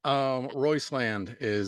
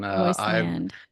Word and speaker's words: Roisland: Royceland Royceland. is actually the correct pronunciation. Royceland.